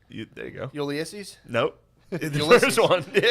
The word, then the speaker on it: Ulysses: How do you say Ulysses? it? There you go. Ulysses? Nope. The Ulysses. first one. Yeah. Ulysses. I was trying to remember how you said it. No, I used to call him Ulysses.